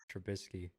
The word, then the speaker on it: Trubisky: That's not how that name's pronounced. Trubisky.